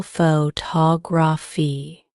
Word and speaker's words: photography: true for longer words take the word photography for example the stress is on the second syllable photography knowing which syllable to